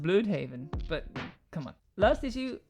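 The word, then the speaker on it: Blüdhaven: Sidestep here, the U in Bloodhaven has these two dots, it's called an umlaut. That changes the U sound to an U. So it should be pronounced Bloodhaven, but come on.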